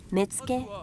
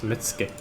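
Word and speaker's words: Metsuke: power in the light metzke deal in bribery and corruption keep order and watch for assassins and spies okay so apparently i have to pronounce this mitsuke and i want him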